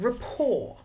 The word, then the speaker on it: rapport: want to talk about rapport or rapport and some people call it because they don't know it's a silent T on the end say that with a